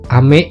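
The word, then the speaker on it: 飴: Nah, misalnya untuk yang aksen naik di sini ada ame gitu ya. Jadi bacanya itu naik. Ame gitu adalah artinya permen ya.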